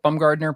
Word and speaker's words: Bumgardner: I'm Bumgardner pretty much everywhere. My name is spelled just like it sounds, and there's only one of them, so I'm pretty easy to find.